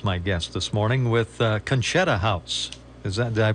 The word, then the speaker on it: Conchetta: Sandra Kowski is my guest this morning with conetta house is that did I pronounce that part right you sure did so